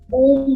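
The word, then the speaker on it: ॐ: अब हमें इसको अ, उ और म, लेकिन जब हम इसका उच्चारण करेंगे तो ये 4 वर्ण हो जाएंगे, 4 साउंड का मिश्रण ओम बनेगा।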